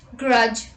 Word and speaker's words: grudge: myself rule number two d is also not pronounced in the combination dg let's look at the examples pledge dodge grudge hedge etc let's look at the examples take